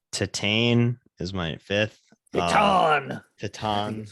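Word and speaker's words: Titane: Tatan is how you say it in Tatan.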